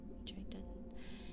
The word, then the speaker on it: chitin: It's pronounced with a clicky k. Chitin.